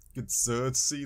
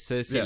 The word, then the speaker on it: Cersei: Game of Thrones I want to say it gersy Lannister I don't know how to say her name Cersei yes Cersei Lannister I'm getting a lot of cersi Lannister